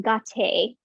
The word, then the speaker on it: gate: It's spelled the same, and it's pronounced gah-tay, gah-tay.